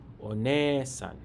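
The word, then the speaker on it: おねえさん: In Japanese, one-san. This also has a long E sound. Pronounce it with a beat.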